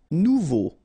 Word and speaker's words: nouveau: Nouveau. Remember, combination of E, A, and U together, it's O.